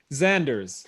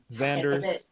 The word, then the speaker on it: Xanders: say your last name xanders like Sanders but with a z like a zebra xanders so they didn't misspell